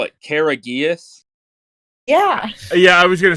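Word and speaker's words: Karagias: real last name his real last name is courageous but not spelled like courageous no it's it's k-a-r-a -g-i-a-s courageous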